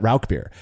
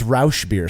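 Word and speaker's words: Rauchbier: learned about Ral beer I called it Ral beer I was corrected by a local buddy of mine who loves schlanker law specifically but but Ral beer and he said you're saying it wrong it's Rous beer so I cannot wait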